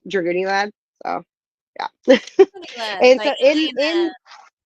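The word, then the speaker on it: Dragooniellad: And it's funny because it's spelled like Goonies. D R A G O O N I E L L A D. Dragun Lad.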